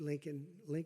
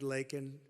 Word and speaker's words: Laken: brilliant 22-year-old nursing student, Laken Riley. You know Laken very well now. And after months of prodding him, Biden couldn't pronounce her name. He said Lincoln Riley, and Lincoln Riley is the football coach, or the coach.